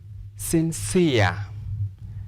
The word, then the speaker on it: sincere: For example, this word, sincere, sincere, sincere. There is a combination of E and R. Therefore, we'll stress the second syllable because of ear.